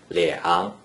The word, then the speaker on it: 两: When a single digit 2 is in the first green circle position without any other digits, it is pronounced 两, 两, 两 is the third tone.